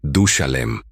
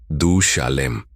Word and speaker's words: Du-Shalem: Y el nombre que le dimos fue Du-Shalem. Lo pronunció de forma pausada, marcando la vocal central. Du-Shalem.